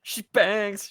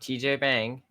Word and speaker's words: shebang: according to Larry Harmer, the correct pronunciation is shebang. Hmm. So it's not TJ Bang, as I would really want it to be. It is shebang.